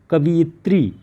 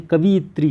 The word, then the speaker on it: कवयित्री: लोग गलतियां करते हैं, कवियत्री कर देते हैं। कवि धन इत्री, ये गलत है, कवयित्री होता है, व में ई की मात्रा नहीं लगती, कवयित्री, ध्यान रखिएगा।